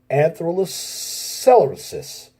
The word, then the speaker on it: atherosclerosis: People who smoke have a higher risk of atherosclerosis.